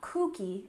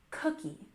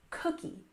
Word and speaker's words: cookie: It's not cookie, it's cookie, cookie. We stress that first syllable, cookie, cookie.